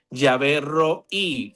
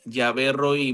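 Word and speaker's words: Yahvé Rohi: Yahvé Roí. Yahvé Roí, muchachos, hombres, mujeres. Yahvé Roí. Se escribe R-O-H-I.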